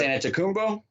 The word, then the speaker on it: Antetokounmpo: Giannis Antetokounmpo?